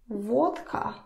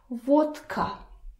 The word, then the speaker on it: водка: Now listen to me pronouncing this word. Vodka. Vodka. Vodka. I'm not saying vodka. Vodka. Because it's difficult. Who needs that?